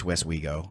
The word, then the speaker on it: Westwego: W-E-S-T, West we go. It's just like it sounds like.